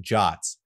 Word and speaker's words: JWT: in Json web tokens known as jwt's pronounced jots these underpin every Firebase